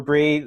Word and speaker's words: Bry: So I'm Barbara Bry. My last name is spelled B-R-Y and pronounced like the cheese.